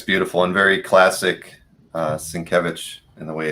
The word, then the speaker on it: Sienkiewicz: image was there, and it was like Sin Kev Itch, so that he didn't even spell it out the right way. He just put it out there so you would know how to pronounce it.